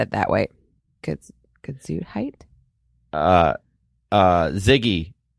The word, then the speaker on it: Gesundheit: What does Gesundheit mean? Delirium tremens is a rapid onset of Delirium. You didn't say it right. It's Gesundheit.